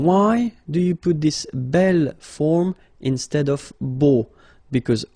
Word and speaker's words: bel: Okay, remember you pronounce it belle, so like the feminine version, but then you write it B-E-L.